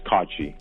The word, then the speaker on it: Cocci: So my first name's, and it's in Arabic. That's the English pronunciation, so everyone says, and then my last name is Cocci. It's Italian.